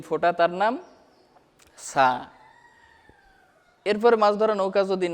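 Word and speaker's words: ث: সার একটা মাখরাজ আছে, সা জিহুবার আগা থেকে নরমভাবে আদায় হবে।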